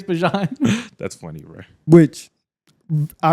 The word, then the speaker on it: Bijan: You can call me Bijan if you want, but really, it's Bijan."